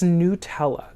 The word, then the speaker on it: Nutella: to say it wrong in this video it's Nutella that's wild anyways so I'm going to continue